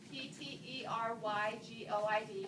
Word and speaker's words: pterygoid: fingers okay and so the p is silent p t e r y g o i d pterodact the pterygoid so